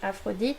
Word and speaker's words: Aphrodite: to the english or aphrodite we just say afrodit we say it differently but it's still spelled the same so for you english